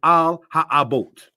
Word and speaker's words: על האבות: Call this one here concerning the fathers in Hebrew pronounced as al ha abote.